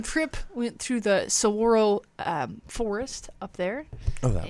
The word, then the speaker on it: saguaro: And then the pronunciation is saguaro.